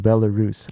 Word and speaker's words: Belarus: would change is uh my country is pronounced belarus i think belarus is actually another place a city somewhere that